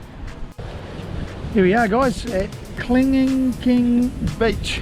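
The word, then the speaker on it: Kelingking Beach: Here we are, guys, at Kling King Beach, if that's the right way to say. I say Kling Kling, we're not quite... Kling King Beach. Yeah, we're just not getting it right, but that's alright.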